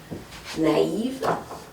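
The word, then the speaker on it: naïve: So, for example, a word naive. So the word naive has two vowels next to each other, and the word Zoe has two vowels next to each other, but you want to pronounce them separately.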